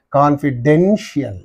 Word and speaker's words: confidential: the suffix is there so the syllable preceding the suffix is Den therefore you say confidential right I confidentially is